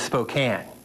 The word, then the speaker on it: Spokane: then there's the name of our community it's Spokane not Spokane this is easy to remember because it rhymes with Spokane not spoke and but if